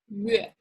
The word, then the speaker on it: 月: Remember when you pronounce 月, round the lips first. 月.